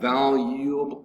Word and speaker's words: valuable: 20 is valuable valuable valuable valuable valuable valuable three syllables valuable with the accent over the first syllable valuable valuables and adjective